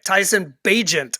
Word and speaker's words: Tyson Bagent: Right, Tyson Bagent apparently is how you pronounce it.